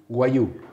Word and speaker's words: Wagyu: voy a preguntar por enésima vez cómo se pronuncia Wagyu. Wagyu.